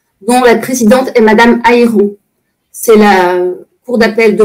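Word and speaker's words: Hairon: C'était quand j'étais en prison, en fait, j'ai reçu un document officiel de la Chambre de l'instruction, dont la présidente est Madame Ayron.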